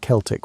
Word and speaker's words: Celtic: The Celtic peoples, and yes, we pronounce it Celtic when talking about these historical folks, not the bus team pronunciation, occupied a vast swaith of Europe, stretching from modern-day Turkey to the Atlantic Ocean.